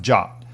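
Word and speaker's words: JWT: JSON web tokens or J WTS pronounced job these ID tokens consist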